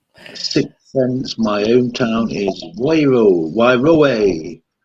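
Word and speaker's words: Wairoa: That's how you pronounce it, Wairoe. As Wairoe.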